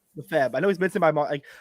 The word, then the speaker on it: Lefebvre: Lefebvre. Lefebvre.